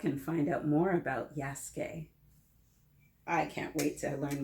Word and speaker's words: Yasuke: do with the pronunciation it looks like it should be yasukei or yasuk but this is pronounced yasuke have you ever heard